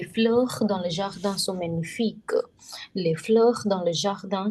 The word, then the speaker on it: magnifique: Whenever G and N comes together, G is silent. Magnifique. This silent. The sound of QU is K, not Q. This is K.